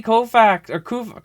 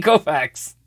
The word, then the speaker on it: Koufax: card oh my God Sandy Colfax yeah Sandy Koufax there we go all right say it right old school I love